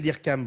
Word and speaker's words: Hyrcan: Et moi, j'aimerais bien… Dirkam, avec un N à la fin, Dirkam. Dirkam. C'est ce que j'avais dit, mais moi, je l'avais prononcé à la française.